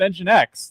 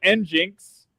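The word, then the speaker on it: nginx: um uh I mean engine X is pronounced engine X like we don't call it N Jinx okay like I don't know it just makes more sense this way.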